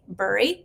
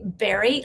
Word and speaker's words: bury: speakers mess up because one wants to say bur, but it's actually berry like the fruit.